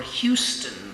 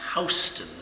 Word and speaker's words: Houston: They're the ones who ask for Houston Street. But in New York, it's pronounced Houston Street.